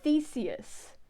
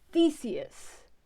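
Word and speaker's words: Theseus: I cannot take this that is not how you pronounce Theus it is Theus he's going to continue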